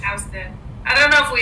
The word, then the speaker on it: Houston: Or like New York has Houston Street, even though it's not like Houston. Yeah, Houston. It's Houston.